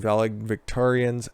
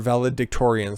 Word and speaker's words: valedictorians: score in sports eliminating valid victorians are valedictorians sorry pronounce it correctly and trophies now schools